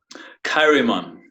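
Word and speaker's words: Chaeremon: Kairimon. Kairimon? That sounds very Egyptian. I like it. Well, Kai as in Christ. So the CH is because he wrote in Latin and Greek.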